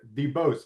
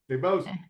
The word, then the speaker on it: DeBoest: So today, joining us today, we have Frank Valdez, Regional Director at Get Quorum, and DeBose. Am I pronouncing that right? You got it. DeBose, the second partner and shareholder at Go DeBose and Cross PLLC.